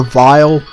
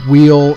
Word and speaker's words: Weil: Someone named, and this name here, the pronunciation, there's a couple different ways that people will pronounce it. Some people prefer vile, some people prefer wheel, some people prefer while. I think while is probably the one I'm going to go with.